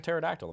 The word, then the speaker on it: pterodactyl: It's like a pterodactyl. The P is silent.